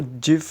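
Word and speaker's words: GIF: interchange format ठीक है इसको जिस के नाम से भी प्रोनाउंस किया जाता है या कुछ जो है वो इसको जिस बोलते हैं ठीक है तो उसके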